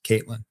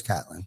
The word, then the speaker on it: Catlin: are watching right now, I apologize for calling us Caitlin, but that's all right. No doubt. I do know a Jim Catlin, spelled with a K though. Spelled the same exact way. Yeah. But they spell it with a K. I know it's Catlin.